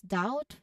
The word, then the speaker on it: doubt: The next is doubt. Very simple. I've already provided it as an example. Letter B, silent.